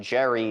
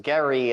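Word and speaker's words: Gerry: maybe the fact that his name isn't Elbridge Jerry it's Gary and it should actually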